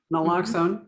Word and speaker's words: naloxone: even know you you it's pronounced like you said it naloxone okay um which is